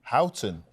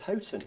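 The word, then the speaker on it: Houghton: picked me up on my pronunciation of hooton Howton he says hon hton well thisen the spring exactly Chris I it's Hoten you say thank you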